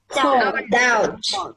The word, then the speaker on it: doubt: Doubt. I doubt that. I really surely it's not. D-O-U-B-T. Yeah. D-O-U-B-T. D-O-U-B-T. Yeah. What's our silent letter in that? B. I lost my B. It's the B.